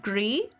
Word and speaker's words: Gris: I was informed it is pronounced Gree.